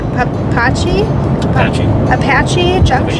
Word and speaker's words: Apache Junction: Apache Junction? I think so. Okay. It's like the helicopter.